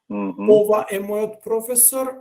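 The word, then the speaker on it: професор: comment on this uh the fact that Professor is of intern National foreign uh language word or like Latin I guess basically uh means that people may expect it to be accented in a different way but it's actually uh accented just all as our rules would uh prescribe so it's third from the last or in this case actually the first syllable so the accent is on pro pro Professor means this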